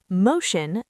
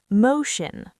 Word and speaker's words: motion: Motion. The ti makes a shh sound. Motion.